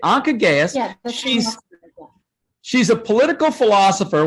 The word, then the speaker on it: Anca Gheaus: I think it's Anca Gheaus. Is that right, Anca? Okay, Anca Gheaus.